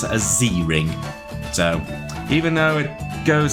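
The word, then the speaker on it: Z-Ring: You slipped the Well, I would say the Z ring, but I'm guessing it wants to me to pronounce it as Z ring.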